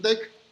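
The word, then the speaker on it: deque: colección vamos a utilizar un d así es como se pronuncian lo que viene y si no damos esa manera un deck tiene esa habilidad de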